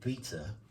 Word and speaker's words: beta: And so um one of the things the model is going to be predicting is I'm going to call it beta basically just because it rhymes with eater.